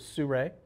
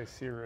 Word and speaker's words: Sirui: said to me was Sirui. I get that wrong all the time. Well, I get it said 100 different ways. Yeah, I always say Sirui. And I always think of sun and ray, and I just Sirui.